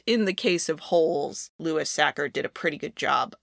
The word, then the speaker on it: Sachar: Probably due in part to the fact that the author of the book, Lewis Sacker, which to be clear is how his name is pronounced, he is the one who wrote this screenplay.